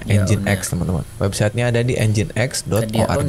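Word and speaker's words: nginx: adalah engine X ya Ini bacanya engine X teman-teman website-nya ada di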